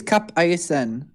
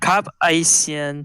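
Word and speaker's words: Cap-Haïtien: How do you spell it? I can't remember what it is now. Kapaysyen. I think it's Cap Haïtien. No, it's in French. Cap Haïtien.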